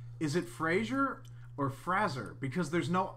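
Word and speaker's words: Frasier: not Freight it's not Frazee it's Fraser or Fraser it is not raising it's not Frazee raise our modern Fraser because there's no I like in the show Fraser no I've always heard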